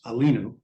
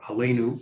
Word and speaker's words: Aleinu: The verb which means to rise, which it would then be pronounced alinu or aleinu.